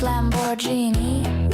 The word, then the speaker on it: Lamborghini: Darling, it's pronounced Lamborghini.